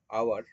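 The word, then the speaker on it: hour: তবে এখানতে আওয়ার, আওয়ার যখন কথাটা হয়, আওয়ার, সেক্ষেত্রে এইচ কিন্তু সাইলেন্ট।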